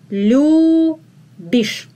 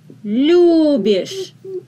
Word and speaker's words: любишь: Ты любишь. Ты любишь. The accent is on лю.